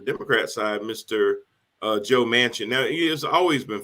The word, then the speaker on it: Manchin: funny the man's name last name is mansion and even though it isn't spelled like the actual mansion like a building it s it sounds it sounds just like it so somebody has the